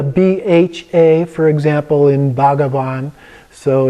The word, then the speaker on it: bhagavad: a for example in bhagavad so it's a BH is a soft B if you will but the main thing is don't try to pronounce the H just going to skip over that and then another one